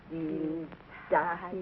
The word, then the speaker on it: Dienstag: Sonntag, Montag, Dienstag, Mittwoch. That is good, but pronounce the words broader, so Sonntag, Montag, Dienstag, yes?